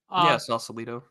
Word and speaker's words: Sausalito: Sausalito, is that how you say it? Yeah. Sausalito. Sausalito is often touted as the example of a social cluster in cyberspace.